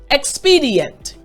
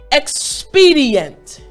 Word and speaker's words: expedient: you want to make sure your voice goes up. XP. Yes. And then the last portion, D, the last 2 portions, D, ent. They're at the normal level. So again, after me, expedient.